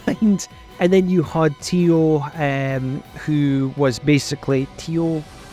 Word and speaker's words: Tio: something along those lines and then you had Tio um who was basically Tio yeah it's Tio so I I kind of thought I I may have mispronounced if I'm wrong please correct me and